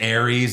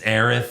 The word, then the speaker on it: Aerith: I said Tifa, found out it's Tifa. I said Ares, it's Aerith.